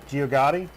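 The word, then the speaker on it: Geogaddi: Gio Gotti.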